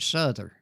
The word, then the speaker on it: Souther: He says, my wife was a Souther. They pronounce it Souther.